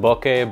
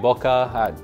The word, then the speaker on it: bokeh: what bokeh is and i've heard it pronounced bokeh boca however you want to say it it doesn't matter to me as long as we